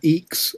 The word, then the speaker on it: IAX: IAX, or EEX as it's pronounced, is Inter-Asterisk Exchange Protocol,